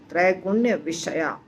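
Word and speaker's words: त्रैगुण्यविषया: त्रैगुण्य तीन गुण, विषया, तो इस दोनों शब्द को इकट्ठा बोलेंगे तो भी अलग बोलेंगे तो भी उच्चारण सेम होगा। त्रैगुण्य विषया।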